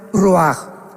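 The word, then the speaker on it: רוח: parte espiritual que es la palabra roach, que se pronuncia roaj.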